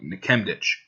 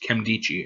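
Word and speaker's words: Nkemdiche: and I used to think it was like nikemdich no it's Kim dichi actually uh he's pretty big guy he's pretty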